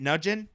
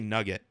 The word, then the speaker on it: Nugent: Is that how you say it? Nugent? I was going to say Nugget.